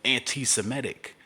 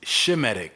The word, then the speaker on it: Semitic: And why are you pronouncing it anti-Semitic? It's Shemitic. That's what it should be. Shemitic. His name is Shem. It's not Sem.